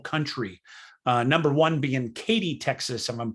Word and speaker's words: Katy: in the whole country uh number one being katy texas and i'm pronouncing that right k-a-t-y katy texas number one gaining 4 414 people